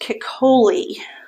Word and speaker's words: Ceccoli: right everything's okay so i believe i heard it pronounced cacoli so that's good to know and on amazon there